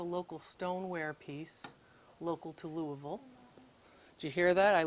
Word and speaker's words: Louisville: uh that's a local stoneware piece local to Louisville did you hear that I learned how to